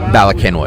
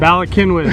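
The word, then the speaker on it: Bala Cynwyd: Balakinwood. Balakinwood.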